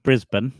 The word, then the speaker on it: Brisbane: It's pronounced Brisbane, and Brisbane, yes. Yeah. Well, in New York we call it Brisbane.